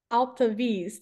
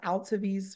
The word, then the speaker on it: Altevese: And then Altevese, do you want to go next? Yes, I will. Perfect pronunciation, Whitney. Greetings, everyone. Happy New Year. My name is Altevese.